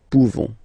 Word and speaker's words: pouvons: So classic ending for nous, this ONS ending for nous. Okay? Nous pouvons. Nous pouvons. Okay? You don't pronounce the final S. Nous pouvons.